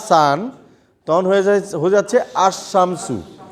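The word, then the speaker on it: الشمس: সান তখন হয়ে যাচ্ছে আসমসু আলটা মানে লামটা উচ্চারণ হচ্ছে না এইজন্য এটাকে বলা হয়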